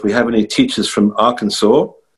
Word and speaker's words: Arkansas: So if we have any teachers from Arkansas, are you impressed by my pronunciation as a Limey of Arkansas, not Arkansas? Arkansas.